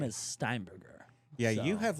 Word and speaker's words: Steinberger: Not pro not uh way too many letters and uh pronunciation. That's okay. My last name is Steinberger.